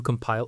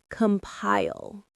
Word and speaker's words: compile: You compile a playlist. That is a perfect metaphor. Let's look at the pronunciation. Compile. Compile. The stress is on the second syllable. Compile. It rhymes with smile.